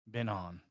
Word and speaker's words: Byung-Hun An: Been on. As we say, as we pronounce his whole name, at 35-1.